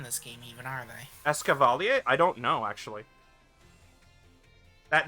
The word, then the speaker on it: Escavalier: lines are in this game even are they escavalier I don't know actually that that is how you pronounce it by the way because it's it's